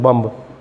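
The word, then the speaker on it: bomb: नहीं हम बोलते हैं बम ऐसे नहीं होता बम बम नहीं बोला जाएगा बम लगेगा की मैं बोला जा रहा है लेकिन नहीं बोला जाता बी को नहीं बोला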